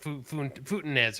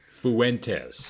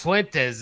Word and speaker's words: Fuentes: I think I'm saying his name wrong, but Futines or whatever. Fuentes. Fuentes.